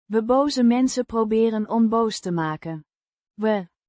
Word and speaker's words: mensen: It's an adjective describing the mensen. means people or persons, pronounced men-suh. with a short E sound in men and a soft s sound followed by a short u sound.